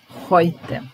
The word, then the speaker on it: heute: Then we have heute. This is pronounced oi.